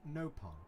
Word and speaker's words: Nopon: You pronounce it Nopon. Over here, we say it with a short vowel.